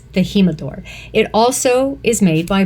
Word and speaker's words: El Jimador: so number six the himador tequila new mix Canadians May pronounce it as El Jimador you might know that better but it's the himador it also is made